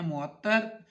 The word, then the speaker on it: معطر: پڑھنے جا رہے ہیں معطر. معطر میں پہلا مضموم، دوسرا مفتو، تیسرا مشدد.